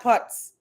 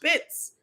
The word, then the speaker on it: Pitts: And it's not Putz. Well, if that's the Joel I'm thinking of, it's Pitts. The last name is Pitt. It's pronounced Pitts. And you're pronouncing it Putz?